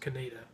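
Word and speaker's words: Conetoe: co NE t OE spelled o but it's pronounced Kaneda though they pronounce things differently there number 3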